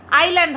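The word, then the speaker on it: Iceland: বলি আইল্যান্ড হবে বাবা প্রথম ভিডিওটাতে আমি ইজল্যান্ড বলেছি আইল্যান্ড প্রত্যেকে আমার ভুল শুধরে দিয়েছো তার জন্য অসংখ্য ধন্যবাদ আইল্যান্ড আমি জানি ওটা আইল্যান্ড কিন্তু অনেকে ইজল্যান্ড বলে আমি শুনেছি ইজল্যান্ড উচ্চারণ শুনেছি তো যাই হোক শোন করমা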